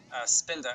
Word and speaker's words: Spinda: this thing is big not STI DNA but its fin de mi spinning around like orbital mechanics and stuff spinda STI NDA yeah you